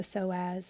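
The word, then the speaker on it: psoas: lower and connecting with the soaz and um that's spelled PS OAS and that's one big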